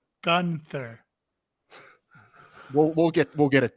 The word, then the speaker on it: Gunther: who gunter is no it's pronounced gunter yes gunter no gunter gunther we'll get we'll get